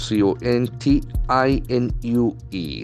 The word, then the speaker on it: continue: i n u e the letter c has got either hard sound or a soft s sound here it is a hard C Sound c c is a mouth sound basically continue continue There are three syllables continue the ACC and force on the second syllable once again we check